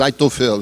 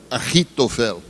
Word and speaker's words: Aitofel: Agora eu não vou pronunciar como está escrito no português, Aitofel. Eu vou pronunciar o nome dele, o hebraico, Ahitofel.